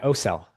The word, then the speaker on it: Ocel: Robel, how how do you say your last name? Yeah. OEL. Yeah.